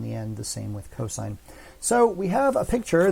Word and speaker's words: cosine: wouldn't pronounce this sin you wouldn't pronounce this cost when you say them verbally you always say sine and cosine same when you put